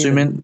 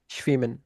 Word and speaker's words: schwimmen: schwimmen, সুইমেন। না এটা হুম শয়ের মতো, এটা schwimmen। এটা এটা শয়ের মতো, দ্যাট হুম, মিন্স মানে এস এর মতোই তো, মানে এখানে উচ্চারণটা নিজস্ব বহাল থাকবে। আর যেন হচ্ছে জিঙ্গেন, আর